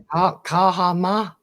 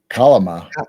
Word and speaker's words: Kalama: Kahama. Kahama. Sound like an Indian. Kahama. Kalama. Kalama. K-A-L, cow, Kalama.